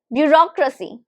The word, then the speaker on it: bureaucracy: Can you recognize the number of syllables? This can be tricky. Believe me. Bureaucracy. If the answer is bureaucracy, 4, then you are correct. Bureaucracy. Bureaucracy. Bureaucracy. Bureaucracy. Where is the stress? Bureaucracy. So it's on bureaucracy. So it's on the second syllable.